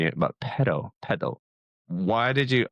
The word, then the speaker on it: Paidal: So I know I was mispronouncing it, but pedal.